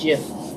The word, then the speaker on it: GIF: And it's spelled GIF, but the man says it's pronounced GIF, like the peanut butter. I'm gonna call it GIF.